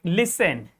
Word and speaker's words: listen: If T comes just after S, that T is is going to be most probably silent. Hope you will get the point. Like listen.